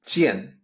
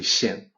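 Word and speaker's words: 見: Third character, usually pronounced as jian in Mandarin, but is actually xian.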